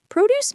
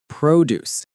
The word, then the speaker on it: produce: Produce means fresh fruits and vegetables. Produce. This word is important. Listen. Produce. The stress is on the second syllable.